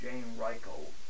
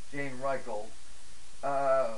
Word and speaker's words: Jean-Michel: by the name of Jane Michael proper pronunciation jean-michel was publishing a wonderful